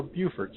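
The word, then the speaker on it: Beaufort: woman's relief Corp in bordt South Carolina or Buford South Carolina depending on whether you pronounce it like a northerner or a southerner and that's a look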